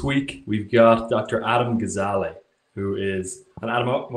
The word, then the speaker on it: Gazzaley: Adam Gazzaley, who is, and Adam, am I pronouncing that right? Just to double check. Gazzaley.